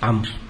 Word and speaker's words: عمرو: هذا يعني من الملح، والمقصود منه أن تعرف أن داود تكتب بواو مع أنها تنطق بواوين، وأن عمرا تكتب بواو مع أنه ليس فيها واو، فكأن واو داود التي انتقصت أخذها عمرو.